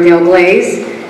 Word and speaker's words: Del Glaze: my name is Del glaze and let me all help you on how to pronounce that it's like the glaze on a donut I tell you that